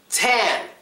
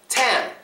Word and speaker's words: tan: silent te next one Tan t n it starts with a t ends with an n Sound yes but tan tan that's only one syllable the T does not become silent we say tan no silent T next one dating dating